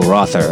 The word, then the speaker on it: Rother: that's me singing their saying their names in English, which I think that has a more of a Germanic, uh, uh pronunciation rother is the way I say it.